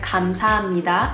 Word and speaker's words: 감사합니다: So although there is a piup in the spelling, you don't actually pronounce 감사합니다. You pronounce it 감사합니다 because of nasal assimilation.